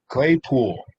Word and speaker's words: Claypool: Saying it correctly. Claypool. Like Deadpool, but with clay?